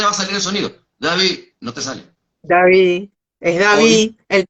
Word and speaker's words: David: Por ejemplo, para yo decir David, David, como se debe pronunciar David, yo debo colocarte de tod la lengua David, debo colocar la lengua en la parte superior de los dientes.